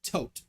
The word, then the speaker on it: Thoth: we got uh corbinx's thoth is pronounced tote h's are silent in